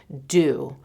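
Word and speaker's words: Doux: don't even know how I've been pronouncing it but someone one of you corrected me thank you very much you're like it reins with who I have it on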